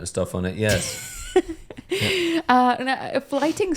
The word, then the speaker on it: Flyting: to the Middle Ages with the art of flighting. Have you heard about flighting, Ross? I've heard Jerry Seinfeld do a fair amount of stuff on it, yes. Flighting spelled Flyting.